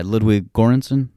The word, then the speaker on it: Ludwig Göransson: And for this guy, Ludwig Göransson, I believe is how you say his name.